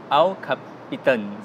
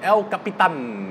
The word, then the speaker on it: El Capitan: So for the Mac, they used the word El Capitan. I prefer the pronunciation El Capitan. Okay. You know, Capitan is more in Malaysia way. More in Malaysia way. Yeah, but in the US, they call it Capitan.